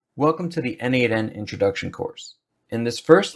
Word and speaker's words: n8n: n8n, pronounced n8n, is a workflow automation tool that connects your apps and services together.